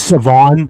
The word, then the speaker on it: Siobhan: It's Savon. The H is silence.